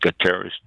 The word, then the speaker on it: Guterres: the secretary general uh antonio gutierrez i believe is pronounced guterres said that a cold